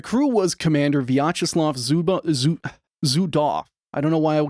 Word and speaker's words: Zudov: It ends with a V, but in all the pronunciations it's off. It's Zudaf.